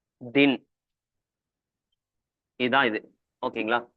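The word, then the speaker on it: दिन: தி, இது 2 சொல்லி நா, தின். இதுதான் இது. ஓகேங்களா? ப்ரொனவுன்ஸ் பண்ண வேண்டியது 2 லெட்டர் வந்தா 2வது லெட்டர் புள்ளி வச்ச மாதிரி படிக்கணும். அதனால தின்.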